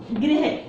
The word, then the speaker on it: गृह: हैं, जैसे गृह है, गृह, तो लोग क्या बोलते हैं इसको, जैसे गृहिकार, इसको गृही बोलना पड़े, इसके में री का उच्चारण होना चाहिए, र का नहीं।